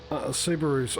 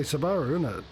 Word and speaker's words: Subaru: do we say patreon we say sabara that's subaru that's said in england america uh basically everyone says subaru it's only new zealand says sabara yeah well sub ar